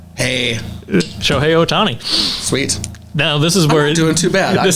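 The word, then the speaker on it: Shohei: does not the first name how would you pronounce that first name so hey yeah you got it right hey show hey oh Tony sweet now this is where we're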